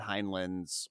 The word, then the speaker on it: Heinlein: an adaptation of famous famous sci-fi writer Robert heinlein's henlin however the you pronounce his name his book Starship Troopers hi